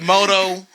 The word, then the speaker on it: Modo: Bro, I swear to God, if my name gets mispronounced one more fucking time, I said Modo.